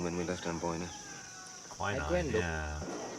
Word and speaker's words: quinine: Did we pack the quinine when we left Amboina? Quinine, yeah. Or quinine? Is that how you say it in the UK?